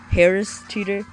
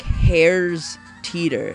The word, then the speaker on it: Harris Teeter: grocery store hare's teeter harris teeter i still say it i used to say it like hairs teeter like your hair is teetering or something like that like hairs teeter instead of harris teeter i don't i don't